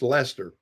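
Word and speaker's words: Leicester: I was thinking yeah it's pronounced Lester but yeah it's a funny spelling name actually had a lot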